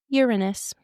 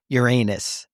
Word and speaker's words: Uranus: Pronounce it correctly. That is the correct pronunciation. They changed that, just so you know. Let's be clear. I don't know exactly when it was, but they used to pronounce it Uranus, okay?